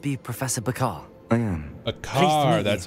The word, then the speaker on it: Bakar: Bakar, that's how you say it.